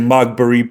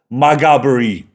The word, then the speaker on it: Maghaberry: inside of HMP Maghaberry, because I was saying Magberry, but it's pronounced, I do believe, Maghaberry.